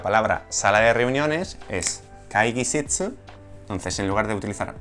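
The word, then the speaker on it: 会議室: Por ejemplo, la palabra sala de reuniones es kaigisitsu, entonces en lugar de utilizar otearai, utilizaremos kaigisitsu. Kaigisitsu se escribe así.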